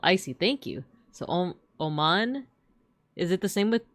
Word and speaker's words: Oman: When saying Oman, the emphasis should be on the second syllable. I see. Thank you. So, Oman.